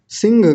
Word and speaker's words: सिंह: सिंह घ लगा देते हैं। सिंह आया था जंगल में। ऐसा बोलते हैं ना? तो सिंह नहीं सिंह ह की आवाज आनी चाहिए। सिंहनादम सिंहनादम और अगला शब्द